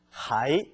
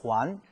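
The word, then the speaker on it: 还: 부사는 하이, 동사로는 후안.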